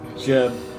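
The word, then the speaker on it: Gheb: I'm fighting Jeb, G-H-E-B.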